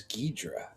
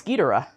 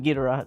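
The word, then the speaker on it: Ghidorah: I think this Josh would like to know why you pronounce Gdora as Gedra. It's Gera.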